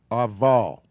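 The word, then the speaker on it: אבל: it's just an ah so this word is actually ah put a space there for you aval okay there's grammar reasons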